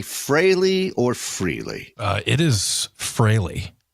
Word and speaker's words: Frehley: think it's an exciting both pronunciations have become acceptable but I think technically it is ace frehley it's Fraley right yeah not that I'm